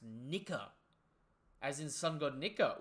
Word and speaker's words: Nika: Sound effects pronounced Nika.